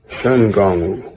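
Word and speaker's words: Shen Gong Wu: And in terms of the native pronunciation, that would have been Shun and Gongwu, Shun Gongwu. But it would have been Shun instead of Shang.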